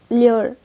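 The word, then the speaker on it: allure: एल्योर को हम ल्योर ऐसे प्रोनाउंस करते हैं और इसका मीनिंग होता है लुभाना, ललचाना, फुसलाना, बहलाना, ये सब।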